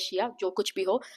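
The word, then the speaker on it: shea: Some pronounce it as she, some pronounce it as shia.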